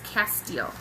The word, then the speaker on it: Castile: So for the soap, I got this, and this is and I looked it up how to pronounce it. It's Castile, and everybody that I've talked to actually knows about it.